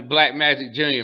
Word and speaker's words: BLKMJKJR: This is under Black Magic Jr., man, and it's spelled BLKMJKJR.